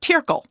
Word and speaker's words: Tirggel: here Amy it's called turle turle tle t i r right t i r g g l but in Swiss German a double G is pronounced like a k so tile okay so what is